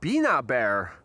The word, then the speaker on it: Bina Bear: And it's pronounced Bina Bear. Really? Bina Bear? Bina Bear. Right, okay. Bina Bear. Apologies for the mispronunciation.